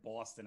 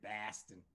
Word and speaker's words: Baston: I said Boston. I meant to say Baston. That's right. They pronounce it like an A.